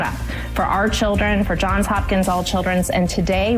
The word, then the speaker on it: Johns Hopkins: We are out here at John Hopkins. See now I'm saying it wrong. John's Hopkins.